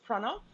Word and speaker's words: Pranav: just general useful media so my name is pranav it's spelled p r a n a v and